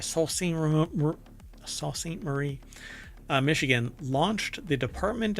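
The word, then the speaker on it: Sault Ste. Marie: University in Sal St Sal St morce sorry I have to say it right Sal sa St Marie uh Michigan launched the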